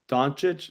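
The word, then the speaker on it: Dončić: name donic how do you say donic chit donic yeah there's no hes in there at all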